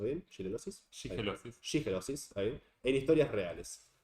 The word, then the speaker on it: shigellosis: de la familia intoxicada por shigellosis, ¿lo estoy pronunciando bien? ¿Shigellosis? Shigellosis.